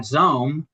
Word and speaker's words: Xome: So, um at Xome, it's uh X O M E rhymes with home, but starts with an X and not that anyone would would ever spell it that way.